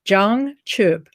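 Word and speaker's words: jangchub: for enlightenment it's a zhang choop zhang is spelled j-a-n-g and the second word is chup c-h-u-b zhang means something that's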